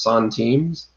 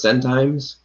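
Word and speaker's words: centimes: time the french lower denomination the it's actually pronounced son teams so the five son teams the ten sun teams etcetera i used to call those send times yep yeah but uh penny haven actually corrected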